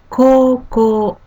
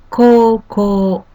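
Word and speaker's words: こうこう: Koko, high school. Koko. The first and third character, ko with U, pronounced with twice long like koko.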